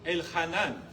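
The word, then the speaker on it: Elhanán: ajá, sí, acento en la A al final. El Hanán.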